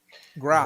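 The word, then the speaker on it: grok: Grock.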